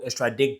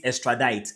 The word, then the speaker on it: extradite: US, the US will extradict them and vice versa. Right? I keep mispronouncing extradite, extradite, extradite, extradite.